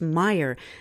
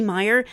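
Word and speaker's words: Meier: Since the 1970s, a humble one-armed gentleman in Switzerland named Eduard Albert Meyer, and that's spelled M-E-I-E-R, has been having regular contact with off-worlders.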